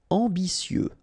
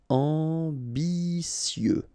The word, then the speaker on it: ambitieux: Ambitieux, final X not pronounced, and then remember that you get this T, I, and then vowel, so si. Ambitieux, ambitieux.